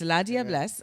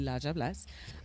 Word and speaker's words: La Diablesse: literally, so it's La Diablesse, and of course that's like proper French, but we would have our pronunciation of it would be La Diablesse.